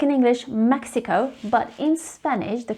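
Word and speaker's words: México: just like in english mexico but in spanish the correct way of saying it is mexico so the x is pronounced as joseon mexico not mexico mexico the second one is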